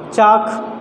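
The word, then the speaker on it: chalk: और कब आता है, तो बिफोर के यल लेटर आता है जो साइलेंट रहता है।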